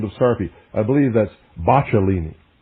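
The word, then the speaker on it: Boccalini: I believe that's bachelini. I believe that's the correct pronunciation.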